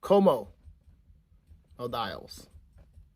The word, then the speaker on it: Ko'Mo of the Isles: Como of the Isles.